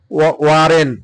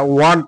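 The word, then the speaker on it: weren't: ওয়ারেন্ট ইউ, ওই যে ওয়ার নট, যেটা আর কি, এটা হচ্ছে ওয়ারেন্ট আপনারা বলেন না, ওয়ারেন্ট না, এটা ওয়ান্ট হবে। হ্যাঁ, মানে আর এর উচ্চারণটা হবে না।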